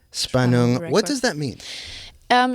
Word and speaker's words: Spannung: Spanong. Spanong.